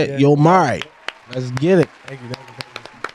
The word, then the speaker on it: Yomari: Yomari.